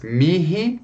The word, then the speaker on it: mihi: O H só é pronunciado em 2 palavrinhas. Mihi, para mim, e nihil, nada. Então, mihi e nihil.